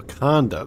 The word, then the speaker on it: Ikande: should be waiting for you good luck so aanda that's how you pronounce that okay H okay hello hi what's